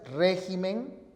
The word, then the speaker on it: régimen: Pero atención, si los nombres esdrújulos acabados en consonante, al pluralizar, cambian la posición de la sílaba tónica. Entonces, si la palabra es espécimen, al pluralizar, queda en especímenes. Si la palabra es régimen, al pluralizar, queda convertida en regímenes.